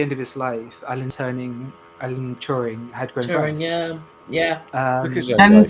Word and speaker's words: Turing: Turing. Did I pronounce it incorrectly? Yeah. It's Alan Turing.